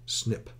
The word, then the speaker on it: SNP: The same research group again studied the original research database, measuring instead genetic variation of 650,000 single nucleotide polymorphisms, referred to as SNP and pronounced SNP.